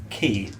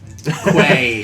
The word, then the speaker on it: quay: with how Matt Mercer pronounces certain things, like key, Quay. quay. Like West Quay in town.